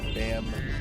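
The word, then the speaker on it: Bambu: It's spelled B-A-M-B-U. They're very coy with it. B-A-M-B-U. Bamboo.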